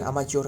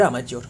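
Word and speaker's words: amateur: क्या कहा जाता है इसे कहा जाता है अमाज्योर क्लियर अमाच्योर कहा जाता है। क्लियर अमाच्योर स्पेलिंग गलत लिख यस अमच्योर ए एम ए ए टी ई यू आर अमच्योर या फिर अमचोर सो फ्रेंड ये आज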